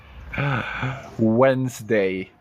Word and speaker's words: Wednesday: w e d n s d a y Wednesday whoever was writing this for the very first